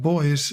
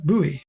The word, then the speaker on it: buoy: indicate a line of boys in a harbor or a lake now let me digress a little and say that I pronounced boy as a boy you might prefer buoy and either will do although since I'm off